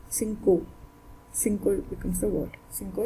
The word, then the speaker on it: cinco: so it becomes dinner another example is presence of i and i is present after or is present after c so let's take it like s c c c and